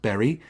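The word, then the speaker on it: Beury: It's spelled B-E-U-R-Y, by the way, but always pronounced Berry, like the fruit, although, of course, in Philadelphia accent, it comes out Berry.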